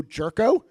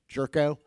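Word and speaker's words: Gyourko: economists Ed Glazer and Joe G Joe jerko that is the correct pronunciation jerko all right and what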